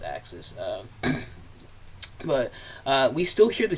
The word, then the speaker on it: AXS: I think it is pronounced Axis.